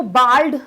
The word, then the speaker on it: bald: कहीं कहीं पे आपको बाल्ड सुनाई देगा इसका प्रोनाउंसिएशन, कहीं कहीं पे बॉल्ड सुनाई देगा। ठीक है, ज्यादातर इसको बाल्ड आपने सुना होगा, बट इसका एक प्रोनाउंसिएशन जो है वो बॉल्ड भी है, इसीलिए हम उसको ऑप्शन